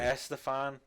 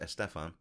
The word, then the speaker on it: Estefan: Gloria Estefan, pretty poor too. I believe it's pronounced Estefan.